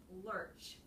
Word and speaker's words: lurch: like to Lurch forward so it's Lurch just an sound Lurch Lurch yeah Lurch you don't really say that oo so much it's not like an O it's just an Lurch Lurch and so she's